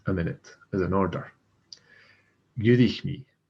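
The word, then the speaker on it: dh'fhuirich: Gurich me. So again, FH is silent. It's like this word starts with a U. Gurich. Add the DH because it's a vowel.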